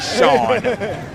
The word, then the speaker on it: Sean: It's definitely Sean. It's Sean Morad. Spelled S-E-A-N, not S-H-A-W-N. No silent letters. No silent letters for Mr. Morad.